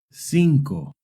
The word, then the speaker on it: cinco: Remember, if the C is followed by an E or an I, it makes a soft C sound. Centro. Centro. Now you try. Try reading this word. Cinco.